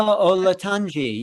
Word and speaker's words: Olatunji: Baba Olatunji, yes.